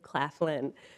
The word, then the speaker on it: Claflin: It is Representative Claflin, derivative of McLaughlin, if you really want to get into the history of it.